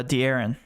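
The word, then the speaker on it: De'Aaron: coming in tonight smh matt you want to pronounce uh fox's first name for us uh d aaron okay yeah you like darren fox tonight i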